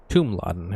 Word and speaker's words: Tumladen: Tumladen is how they pronounce it.